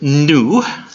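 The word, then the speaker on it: nu: the first one is new sounds like the in in the word new go figure yeah the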